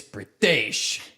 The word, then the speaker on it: Pritesh: I'm like, hi, my name's Pritesh. He goes, shut the fucking cameras down. I was like, Yeah. bro, what I just do? He's like, it's Pritesh.